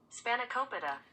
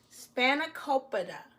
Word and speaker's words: Spanakopita: name for it so let me get the pronunciation correctly because I want to make sure I say it to you all correctly spanic Copa spanic Copa it's a it's a Greek um spinach pie